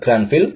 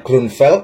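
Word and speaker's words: Grünfeld: Saya lebih mudah mengucapkan Granville, jangan protes. Mungkin cara bacanya Grunfeld atau apalah.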